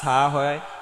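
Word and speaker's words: ح: জ বলব না জ না জ হা এটা কিন্তু হা না এটা হা চাপিয়ে বলতে হবে হ্যা এটা হচ্ছে হা আমাদের পার্থক্য বুঝতে হবে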